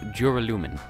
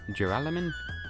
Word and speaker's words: Duralumin: It's a 4-syllable word, and the Jew, Serious side. Jur, however you wanna spell that out, is where the accent is.